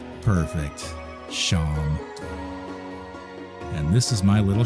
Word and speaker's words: Seam: The name Seam pronounced Sham. Perfect. Sham.